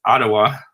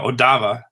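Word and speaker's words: Odawa: I think it's Ottawa. Oh, no, Odava. Yeah, I think Odava is the right way.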